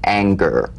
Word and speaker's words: anger: for instance this is the difference between the soft G in singer and the hard G in anger right for instance a